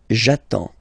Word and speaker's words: attends: So the first form will be j'attends, j'attends. Okay, you get D and S, well, basically you don't pronounce them, okay, and then you get only the sound attends, nasal here, en, j'attends, okay.